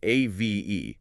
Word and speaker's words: Ave: It's spelled A-V-E, but you pronounce it Ave, exactly like the Latin phrase Ave Maria.